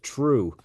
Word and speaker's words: Trew: that uh without further Ado I'm here with true uh how are you true good how are you good good so for